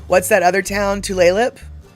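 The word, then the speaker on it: Tulalip: on Tulle Lip. Um, Tulip Lips. No, it's Tulle Lip.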